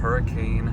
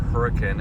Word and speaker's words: Hurricane: going to head out from Hurricane or hurricane as the locals pronounce it Utah and I'll